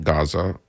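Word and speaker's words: غزة: there was going to be a ceasefire in Gaza in Arabic it's pronounced raza so if you hear me say it that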